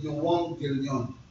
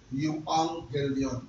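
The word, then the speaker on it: εὐαγγέλιον: The word gospel comes from the Greek word yong gilion. That is the Greek word yuang gilion. That's how they pronounce it.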